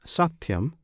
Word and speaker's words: Satyam: This Satyam consists of 3 syllables. One syllable is Sa, another Ti, the third Yam.